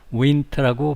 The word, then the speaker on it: winter: 이 winter도 n 다음에 t가 오면 그 다음에 t를 발음하지 않습니다. 미국 사람들, 많은 사람들이 t를 발음하지 않습니다. 모든 사람이 그런 건 아니지만 winter라고 발음하기도 하고 winter 이렇게 발음하기도 합니다.